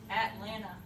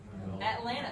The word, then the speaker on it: Atlanta: say at laptop atlanta atlanta are there actually any teas in there at all atlanta there aren't any it's at with the glottal stop at like batman at and then the same